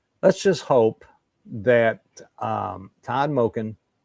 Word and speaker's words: Monken: Let's just hope that Todd Monken Monken, sorry. I got to start pronouncing his name right.